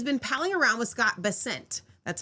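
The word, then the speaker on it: Bessent: However, she has been pinging around with Scott Basent.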